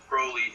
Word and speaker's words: Crowley: uh my understanding of the proper pronunciation of crley is that he rhymed it with holy in the PO and